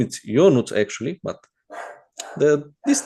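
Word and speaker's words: Ionuț: My name is Yonut actually, but the this name is so hard to pronounce that everyone calls me from foreign countries.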